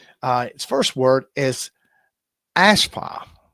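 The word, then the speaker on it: אַשְׁפָּה: Uh it first word is ashpa. Pronunciation is ashpa.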